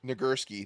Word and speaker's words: Nagurski: Nagurski. That's how you say it.